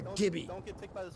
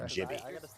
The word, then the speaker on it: Gibby: You would pronounce Gibby, not Jibby.